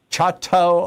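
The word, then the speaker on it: Chouteau: Uh, Terry in Chatau, Oklahoma.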